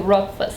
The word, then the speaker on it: Rothfuss: Esse th aqui não é pronunciado, viu gente? Agora se você tiver com muita, mas muita vontade de pronunciar, pronuncia só o T. Bem suavezinho. Rotf.